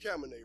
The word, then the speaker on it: Cabernet: And I just like to say, folks, it's pronounced Cabernet, right? Cabernet.